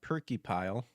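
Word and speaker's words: Purkeypile: Former uh Bethesda lead artist Nate uh Perkupile, that's really how you pronounce his last name.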